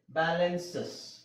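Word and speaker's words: balances: ಇದನ್ನ ನಾವು ಉಚ್ಚಾರಣೆ ಮಾಡಲೇಬೇಕು ಇಲ್ಲಿ ಬ್ಯಾಲೆನ್ಸಸ್ ಈ ಸೈಲೆಂಟ್ ಆಗಲ್ಲ ಬ್ಯಾಲೆನ್ಸ್ ಬ್ಯಾಲೆನ್ಸಸ್ ಬಸಸ್ ಬಸಸ್ ಅ ಸೌಂಡ್ ಆಗುತ್ತೆ ಆಶಸ್ ಆಶಸ್ ಅಮೇಸ್ ಅಮೇಸಸ್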